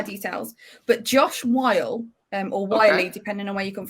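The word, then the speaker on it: Whyle: I think that's how it's pronounced. Weil. It's Wiley.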